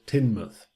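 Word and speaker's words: Teignmouth: looks like it should be pronounced tain birth pronounce Timnath there's a little village in Cornwall on the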